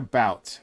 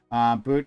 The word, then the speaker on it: Bout: This merchant death guy, his name is Victor Bout. But I'm sure it's pronounced something different. Bout, excuse me.